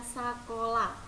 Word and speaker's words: sakola: Nah, kalau orang zaman dulu itu menyebutnya sakola. Jadi E-nya itu diganti dengan A ya. Kemudian tidak ada H-nya ya. Jadi kita bacanya itu sakola.